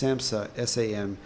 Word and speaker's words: SAMHSA: It's SAMHSA, SAMHSA.gov.